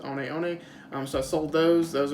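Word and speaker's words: One One: looks are said sorry looks like hookah one but it's pronounced Oni Oni so I sold those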